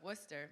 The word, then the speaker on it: Worcester: the vibrant city of Worcester Massachusetts did I get that right yeah you did hey what's the r is silent armed with with a